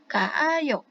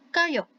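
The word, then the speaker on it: 가요: ditambah dengan ayo menjadi kaayo. Kaayo. Jika diucapkan dengan cepat menjadi kayo. Kayo. Nah, yang ini ya yang digunakan karena pengucapannya itu lebih mudah.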